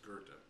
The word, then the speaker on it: Goethe: It looks like go with they or go with thee or whatever, but it's pronounced Goethe.